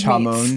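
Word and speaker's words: jamón: brought it up, when we first got there, I was like, give me all, it's pronounced hamon, right?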